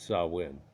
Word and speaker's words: Samhain: The reason it came to mind for is you'd look at this and you go, okay, well, this is Samhain, or they would pronounce it Samhain.